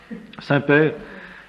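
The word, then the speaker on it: Semper: Ecclesia reformata, Saint-Père reformanda. Ecclesia reformata, Saint-Père, c'est pas comme le Saint-Père, ça n'a rien à voir.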